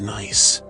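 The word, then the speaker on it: gneiss: The bedrock here is nice, pronounced nice, highly metamorphosed rock.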